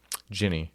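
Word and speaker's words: Ginny: Is it Guinea or Jinny? Jinny. Jinny. Yeah. Guinea. Well, it's spelled G I N Y.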